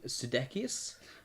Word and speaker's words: Sudeikis: How do you pronounce this guy's name? Sudeikis.